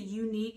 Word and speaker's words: Uneek: The unique is spelled uneek. U-N-E-E-K.